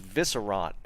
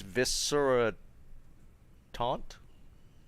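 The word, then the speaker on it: Visceratuant: that t-u-a-n-t taunt twant i always assumed this was viscerant and i'm completely wrong it's viscera taunt that's a weird one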